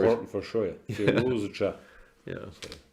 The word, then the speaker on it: Firouzja: So Firouzja, yeah, there should be like a it's not just a zh. There has to be at least a hint of the z in it, and it feels like